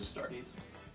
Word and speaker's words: Astartes: I think it's pronounced Astartes. Warrior creature tokens with vigilance. it is Astartes.